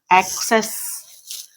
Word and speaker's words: axes: In plural, there is a slight change in the vowel, access. There is a slight variation in pronunciation also. That is axis, it is access a.